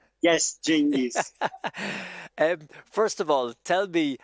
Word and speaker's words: Cengiz: Cengiz, am I pronouncing that name right? Yes, Cengiz.